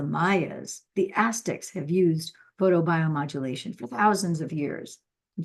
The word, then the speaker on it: photobiomodulation: ALS Al known as photobiomodulation photobiomodulation oh my goodness how many syllables is that photo bio modulation eight syllables holy cow it's a